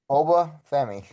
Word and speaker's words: Oba Femi: Oba Femi. Exactly how it sounds.